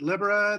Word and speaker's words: Libera: uh there it is so Libra you pronounce it Libra this stresses on the first syllable and a short I uh it's um this